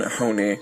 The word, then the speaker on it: Honea: Special thanks to Honea. Wait, is that right? The proper pronunciation is Honey, but believe me, announcers have butchered my name over the years.